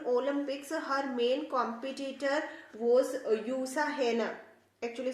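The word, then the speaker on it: Jutta Heine: olympics and in olympics her main competitor was usa henna actually spelling is ju but still it is a greek name and its pronunciation is not ja it is you so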